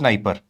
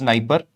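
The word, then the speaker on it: Dnieper: And this river is Niper. It is written as D N I, but it is pronounced as Niper.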